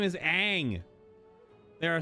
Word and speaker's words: Aang: So when you make your fucking movie and you change the way his name is pronounced of the protagonist to Ong, what do you think fans are going to do?